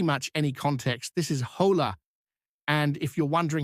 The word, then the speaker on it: hola: and sounds different, but this is how you would pronounce it, like open and la like lap. So, hola.